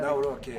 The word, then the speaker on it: Nawrocki: Gave me a little different pronunciation. I said, I want to get it perfect. Did I get it right? Yeah. Good. Good. I Yeah. better- Nawrocki.